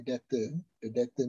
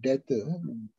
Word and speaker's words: debtor: Sometimes I use the word debtor without B. Sometimes you got problem with some of the students, but that is the way of how to pronounce it.